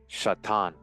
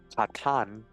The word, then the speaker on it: Chattan: Whatever the origin of the clans Chattan or Chattan, for the CH receives a guttural pronunciation, it is indubitably ancient.